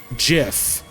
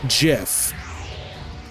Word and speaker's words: GIF: type says that it is supposed to be pronounced GIF do JF the vast majority of the world calls it